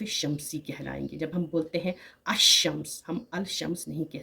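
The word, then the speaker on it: الشمس: silent हो जाती है लाम को नहीं पढ़ा जाता है इसीलिए हम पढ़ते हैं अशम्स इसीलिए हम पढ़ते हैं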